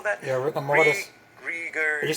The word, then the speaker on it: rigor mortis: Yeah, rigor mortis.